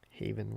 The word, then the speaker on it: Haven: Town lead most near Haven one syllable Haven Town hey that